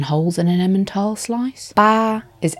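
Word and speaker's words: 八: Ba, I want loads of luck. Flat tone again. I just thought of another one for 8 while trying to learn 9. So the Western Arabic, whatever it is, 8, kind of looks like a bag of money, which is ba.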